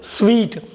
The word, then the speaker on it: suite: சூட்டுன்னு சொல்ல வந்துருமே வார்த்தை, அப்படி சொல்லிடாதீங்க. ஸ்வீட்டுன்னு படிக்கணும். பாருங்கள், இனிப்புக்கு ஸ்வீட்டுன்னு படிக்கிறோம்ல, ஸ்வீட்டுன்னு சொல்லலாம் இனிப்புக்கு. அதே மாதிரி உச்சரிக்கணுங்க. சூட்டுன்னு உச்சரிக்கக்கூடாது. கோட்டு சூட்டுக்கு தான் சூட்டு, இந்த சூட்டு இல்லை, இது வந்து எஸ்யூஐடிஇ வந்து ஸ்வீட்டுன்னு சொல்லணும், சூட்டுன்னு சொல்லக்கூடாது.